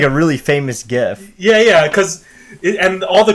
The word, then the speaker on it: GIF: Also, it is pronounced GIF, not GIF.